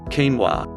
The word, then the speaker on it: quinoa: Quinoa. Quinoa, pronounced quinoa, is a protein-rich seed that the Incas ate to give them strength and energy.